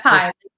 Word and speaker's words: PII: the introduction yeah yeah it's pi like the number link but it stands